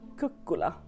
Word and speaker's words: Kukkola: Säger man kukkola? Kukkola? Det är såklart ett finskt uttal på detta. Men heter man Ola och bor där så hoppas man att folk håller tungan rätt i mun. Kukkola, ska man nog säga.